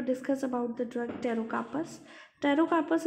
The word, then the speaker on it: Pterocarpus: Pterocarpus is a drug in which P is silent.